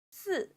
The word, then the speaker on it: 四: Number 4 is 四. The pronunciation sounds similar to 死, which means death in Chinese.